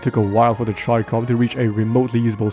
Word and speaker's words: Chicom: Call of Duty Mobile's very first meme weapon, the Tricom. Yes, that's how it's actually pronounced, fell into the former category.